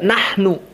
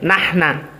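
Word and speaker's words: نحن: Kemudian contohnya juga nahnu. Kita yang fushah nahnu muslimun. Mereka tidak, bacanya nahna. Ya akhi nahnu, nahna.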